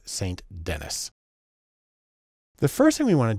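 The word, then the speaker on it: Ruth St. Denis: American modern dance and even though her name looks like it should be pronounced Ruth sandini she's American so it's saint-denis the first thing we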